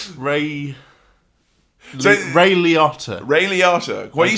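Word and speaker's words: Liotta: screen yeah um with Ry I wanted to pronounce Ray's um surname as ler and that's not ray ray leot ray leata when you said Ray lawyer that sounds like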